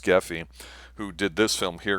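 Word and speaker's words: Grefé: I believe his name is pronounced Geffy, who did this film here.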